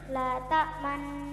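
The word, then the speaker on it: لا تأمنا: Bacaan ismam artinya bibir mencucu atau mencong di tengah-tengah dengung sebagai isyarat bunyi dhammah.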